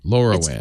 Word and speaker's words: LoRaWAN: with other companies so they're saying it wrong it's low raun lorowan laura laura wan it stands for long range wide area network so what amazon was